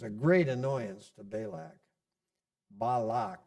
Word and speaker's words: Balak: Balak is how we should say it according to our rules.